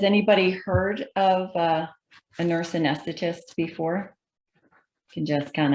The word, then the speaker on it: anesthetist: It's a hard word, as we already heard that, but that's how you say it, anesthetist.